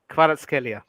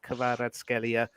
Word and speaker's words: Kvaratskhelia: Kavicia Kvaratskhelia. I think that's how you say it. I'm sorry. Let me try it. Kvaratskhelia.